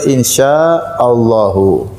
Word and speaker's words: Insya Allah: Manakah pengucapan yang benar? Insya Allah atau insya Allah? Yang benar insya Allahu.